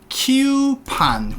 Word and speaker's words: coupons: 얘 발음 잘해주셔야죠. 어떻게 하죠? 키우판. 굳이 쓰자면 키우판 이런 느낌이죠. They give coupons.